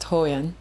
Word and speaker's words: HoYeon: It's pronounced HoYeon.